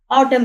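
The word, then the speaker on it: autumn: अब यहां पे ये देखें ऑटम ए यू टी यू एम एन एन यहां पे राइट तो होगा लेकिन इसकी प्रोनाउंसिएशन नहीं होती ऑटम रीड होगा ऑटम इसी तरह रैप डब्ल्यू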